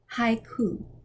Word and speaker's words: haiku: are two common ones a i is pronounced like in hi think about the japanese poetry form haiku e i is pronounced